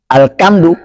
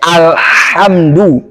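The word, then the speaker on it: الحمد: disengaja oleh si pembaca Maka jangan bacanya alkamdu bacanya alhamdu ini jauh banget bedanya tara ha nah atau antara ha dengan ha alhamdu jauh banget jadi bacanya alhamdu nah baik apalagi kedua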